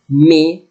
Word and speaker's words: mais: In this week, you will write au zoo, on peut photographier, mais, is meaning but. Look at letter S, I will not pronounce it.